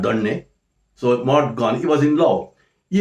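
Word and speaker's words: Maud Gonne: poet was in love with a girl called mod gone m a u d g o n n e but don't pronounce it as guani usually john don that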